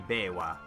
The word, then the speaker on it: Biwa: I'm not pronouncing that right, it should be Biwa.